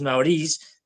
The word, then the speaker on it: Nowruz: En el Asia Central varía la pronunciación, yo lo hago muy mal, Nowruz, Naoriz, es decir, escrito no, a veces, ya digo, varía también cómo lo transliteran al alfabeto latino.